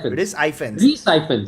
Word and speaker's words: Rhys Ifans: Rice? How do you say it? Rice? Rhys Ifans, actually.